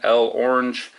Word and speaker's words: L'Orange: There's going to be a lot of debate on how to pronounce this dude's name. I call him L'Orange myself. Some people call him L Orange.